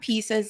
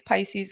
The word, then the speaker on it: Pisces: it wrong and yeah it's not pieces it's Pisces guys what closes down